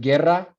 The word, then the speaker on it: guerra: With guerra, that U does not represent a phoneme either because it does not, it is not pronounced.